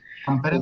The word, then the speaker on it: Tampere: en Tampere, me corrige el doctor si se pronuncia de esa manera, Tampere, sí.